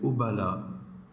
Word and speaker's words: Obala: Nom, prénom, nom de scène, tu t'appelles Oubala.